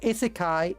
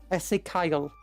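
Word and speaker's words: Ezekyle: No, it's not Isekai, it's Ezekiel. Ezekiel. Ezekiel. Ezekiel? I don't know how to pronounce that.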